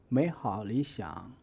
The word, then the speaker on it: 美好理想: The phrase 美好理想 will be divided into two parts, 美好 and 理想. The first syllable of each word changes to the second tone. The second syllable retains the third tone, with the 好 being in the middle of speech flow. So only the first half of third tone is pronounced.